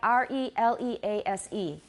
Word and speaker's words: release: So for example, 放开, R-E-L-E-A-S-E. How do you say that? Very good. But that's a long E, but we don't want to make it too long because what?